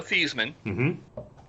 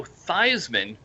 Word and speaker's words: Theismann: your name is joe thiesman and you need to change your name to joe theismann because it rhymes with heisman that's correct a lot